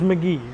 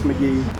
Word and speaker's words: McGehee: Yeah, it's spelled M-C-G-E-H-E-E, but it's McGee.